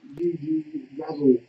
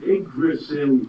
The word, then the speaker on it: Yggdrasil: So it's Yggdrasil. 2. There you go. It's Yggdrasil.